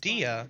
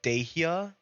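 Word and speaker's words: Dehya: are both going well that's pronounced Dia the Academia are all taking care what did you think it was dejia the core of 30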